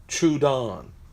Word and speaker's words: Troodon: is the micro tech I've been mispronouncing this forever so I'm just gonna try to do how they wrote it phonetically chewed on the micro tech Troodon I've always called it chewed on the micro tech chewed